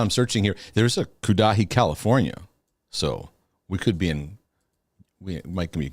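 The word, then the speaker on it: Cudahy: That's just Kudahi. Kind of sounds like Gaddafi. Kudahi, Wisconsin. Oh, wait, hold on. I'm searching here. There's a Kudahi, California.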